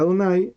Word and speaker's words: Adonai: Pues para que el lector recordara que esa palabra se pronunciaba Adonai y no de otra forma.